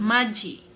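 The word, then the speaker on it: 맏이: Magi. Yes. Eldes. Magi. Yan. Okay. Parang hindi siya eldest kasi nga ang naririnig natin ay magji.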